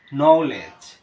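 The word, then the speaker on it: knowledge: এখানে দেয়া আছে যে শব্দের শুরুতে কে এন থাকলে তার উচ্চারণ ন এর মত হয় অর্থাৎ কে এর উচ্চারণ হয় না যেমন ন এখানে আমরা কে উচ্চারণ করি নাই জানা নলেজ এখানে কিন্তু কে এর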